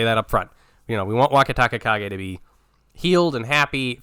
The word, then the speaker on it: Wakatakakage: we'll be able to figure out how to say his name a lot faster than our first time around. Right, we got to do it the way like Hiro does it.